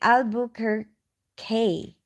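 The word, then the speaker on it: Albuquerque: oh you're telling me how to say it aluk her K cool thank you for that the Duke City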